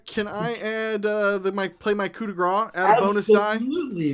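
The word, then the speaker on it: coup de grâce: Cody, I don't know if you didn't know, but it's actually pronounced coup de grace.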